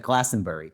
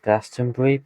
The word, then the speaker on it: Glastonbury: First show in two years at Glastenbury. Technically it's called is pronounced Glastonbury, but it's like it's like you just it's like the U is silent.